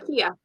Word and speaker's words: Kia: And I'm sorry, is it Kaya or Kia? I keep wanting to say Kia. Kia. Yeah, okay.